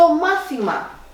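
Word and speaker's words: μάθημα: To mathima, the lesson, as a subject. To mathima is a neutral noun with ending of ma with an accent on the third syllable from the end.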